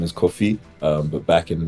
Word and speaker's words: Kofi: My first name is Kofi, um but back in primary school, everyone used to pronounce it like coffee, like the drink.